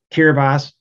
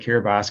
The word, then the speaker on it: Kiribati: Kiribati, yeah, and that's how you pronounce it, Kiribati, consists of 33 islands, all of them no more than 6 feet above sea level, 117,000 inhabitants.